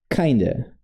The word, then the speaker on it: kind of: A pronúncia vira meio que, ó, vira kind. Vira kinda, kinda, kinda.